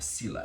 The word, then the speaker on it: sila: A sila, S-I-L-A would be one way to spell it.